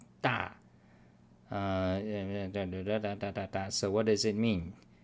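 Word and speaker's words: 龘: So it's pronounced da.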